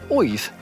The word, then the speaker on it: Oiz: of my eyes, the Orbea Oiz, or Oiz, if you want to pronounce it without the English accent.